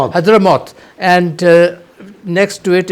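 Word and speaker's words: Hadhramaut: U this province of Hudra, how do you pronounce it as Hyderamoth and uh next to it is uh uh um what what's the name of that provin?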